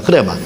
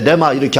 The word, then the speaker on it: 흐레마: 흐레마. 그러니까 이제 묵음으로서 묵음이 돼가지고 발음을 하지 않기 때문에 레마 이렇게 하는데 원래는 흐레마로 이렇게 되어 있습니다.